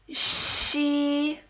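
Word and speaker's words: xi: The last initial is she, and this sounds nothing like the way X sounds in English, so make sure you don't get confused. This actually kind of sounds like the word she in English, except again, most of the sound is coming from the front of your mouth.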